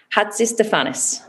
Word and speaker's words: Hatzistefanis: messing up people's names so it is maria tell me if i get it right hats is stefanis perfect i am very impressed